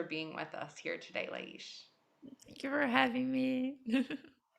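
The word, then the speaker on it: Laís: I'm here today with my beautiful friend Lais, and I say her name Lais because I speak Portuguese from Portugal, but some say Laish or Lai, and I'm so happy to be with her here today.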